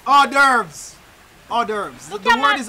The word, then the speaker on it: hors d'oeuvres: Then I ask this right here, so horse. Hors d'oeuvres. Hors d'oeuvres. The word is hors d'oeuvres. Me can't pronounce them right there, them not a fried chicken.